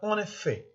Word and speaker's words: en effet: اللي بعدها en effet. Ici, on ne doit pas prononcer le T final. En effet. C'est pas en effet, mais en effet.